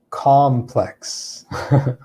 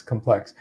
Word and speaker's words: complex: spelt exactly the same the first one has the stress here on the second syllable complex and this means something like uh difficult or complicated right that that's what it means then the other words um complex complex and in the other word uh complex complex where we stress the first syllable this is like um